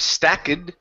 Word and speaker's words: stacked: next one here uh this is Ed ending instead of stacked okay this is a t sound so it's stacked stacked okay take out that e instead of Stack it stack stacked stacked there you go three